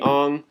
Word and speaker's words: Aang: cultures were pronounced wrong aang is supposed to be on iro is supposed to be ero yeah that's what you're